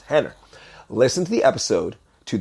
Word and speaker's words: Rener: It's spelled, it looks like Renner, Rener, but he's Brazilian, so it's pronounced Henner.